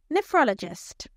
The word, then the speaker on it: nephrologist: Nephrologist. The third syllable is stressed. Now you say it. Nephrologist.